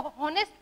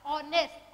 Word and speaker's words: honest: इसको पढ़ेंगे, हमारे प्रोनाउंसिएशन अगर हम इसको हॉनेस्ट पढ़ेंगे तो वो गलत हो जाएगी, ये पढ़ा जाएगा ऑनेस्ट। ऑनेस्ट में ओ की साउंड आ रही है, तो हमारा आर्टिकल होगा एन।